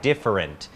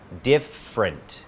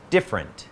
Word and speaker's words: different: different Cuts of Beef สังเกต การ ออก เสียง คำ ว่า different สามารถ พูด 3 พยางค์ ได้ different แต่ ที่ นิยม นะ ครับ คือ 2 พยางค์ นะ ครับ different different We Have different Cuts